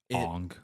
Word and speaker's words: Aang: They don't even pronounce the Aang's name right. Ong. Yeah, Ong.